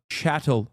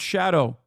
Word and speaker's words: chattel: the historic severity of chatow slavery not Shadow for the Chatters who